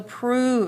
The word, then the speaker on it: prove: spelled with an O so prove it says oo Pro so prove but it fix fits under the u sound of O Okay so prove all